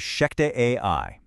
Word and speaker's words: ShechetAI: Welcome to From the Desk of Sheek AI. And just so you have it right, that's spelled S H E C H E T A I.